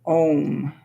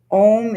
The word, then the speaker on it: Om: It's comprised of 3 vowels, A, U, and and then a dot at the end that's a silent half syllable.